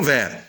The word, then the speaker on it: verts: Ça ne se prononce pas, mais on l'écrit. Donc, un pantalon vert, des pantalons verts.